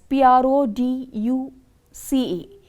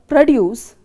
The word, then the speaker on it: produce: here stress here example for a noun or an adjective the first syllable is stressed here it has been spelt as p r o d u c e so the first syllable here is p r o the word produce has been stressed for the first syllable produce whereas for a verb the stresses on the second syllable produce p-r-o-d-u-c-e the stress